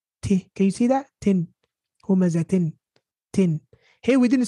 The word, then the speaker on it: هُمَزَةٍ: Humazatin. Tin. Hey, we didn't say humazahin. No. We're pronouncing the ta. We're saying humazatin.